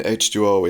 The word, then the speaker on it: H20: hmm is something worth checking out so Halloween h2o is the seventh film in the series it's pronounced in English usually h2o as my understanding